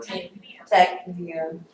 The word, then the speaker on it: tachypnea: I guarantee you, you're gonna run into people who say tachypnea or Tachypnea. hyperpnea. She said tachypnea. said Tachypnea. It's tachypnea. Wait, say it again.